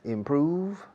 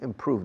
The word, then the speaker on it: improve: Se pronuncia improve, no improve. Aunque existe una O ahí, improve, se pronuncia improve, como si fuera una U. Improve Y el V de improve es casi como un F.